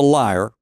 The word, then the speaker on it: lyre: Orphic is a Greek philosophy from Orpheus, a musician whose magic ability on the lyre, or lyre, however you want to pronounce it, affected beasts, rocks, and trees.